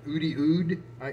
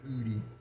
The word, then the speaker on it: Oudy: i like it and ud i maybe said udi would i'm sorry because it's spelled o-u-d-y-o-o-d is how i'm reading that and so i guess it's supposed to be extra oody um so we'll see